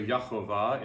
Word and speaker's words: Jehovah: They took the letters from Adonai and put them in the spaces. And so instead of just going, they said Yahovah. So Yahovah is one pronunciation, but